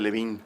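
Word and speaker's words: Delevingne: Sí, cara de Levine. Sí, de hecho yo le pronuncio en francés. Cara de Olivigne.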